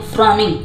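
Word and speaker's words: frowning: फ्रॉन, फ्रॉन होता है ना, फ्रॉन, फ्रॉन, यहाँ पर डब्ल्यू साइलेंट है तो बोलते हैं फ्रॉनिंग।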